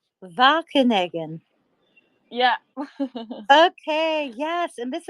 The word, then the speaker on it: Wageningen: how do you pronounce it? Wageningen. Wageningen.